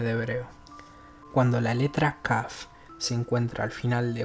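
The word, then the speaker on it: כ: Cuando la kaf no lleva el punto interior, o sea, el dagesh, se pronuncia suave y velar, similar que la het.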